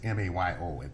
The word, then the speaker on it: Mayo: Yeah, the Mayo study is M-A-Y-O. It's as though it should be pronounced Mayo.